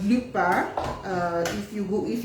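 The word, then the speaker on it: Lupin: second season met second part to it's called Lupa uh if you go if you search for it it's it's spelled l u p i n but it's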